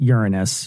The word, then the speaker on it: Uranus: I pronounce it Uranus, but yeah, that's fine, I guess.